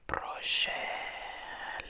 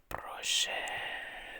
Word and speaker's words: Proszę: He checks your passport, returns it with a smile, and say "Proszę." Listen carefully. "Proszę."